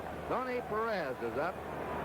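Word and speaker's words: Pérez: We anglicize his name. That's the way they call it in Cincinnati, his hometown, and most of the announcers, Perez. Perez is the Spanish pronunciation.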